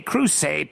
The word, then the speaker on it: Le Creuset: How does this poor bitch afford Le Creuset pans and dishes?